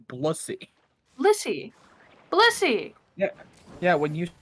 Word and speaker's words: Blissey: That would be Blussy. Well, the way that you say it, it sounds like Blussy. Blissy.